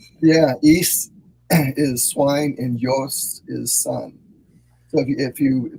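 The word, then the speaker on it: υἱός: Yeah, ის is swine and Ios is son. So if you with the modern pronunciation, ის, the spelling is usually U-S.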